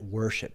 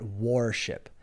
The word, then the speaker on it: worship: Ojo con la pronunciación de worship, by the way. Worship, not warship.